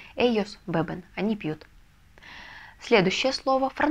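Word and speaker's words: beben: Бебен. Бебен. Ударение ставить не нужно, потому что и так ставится ударение на первый слог, потому что у нас слово заканчивается на «н». Эйос бебен.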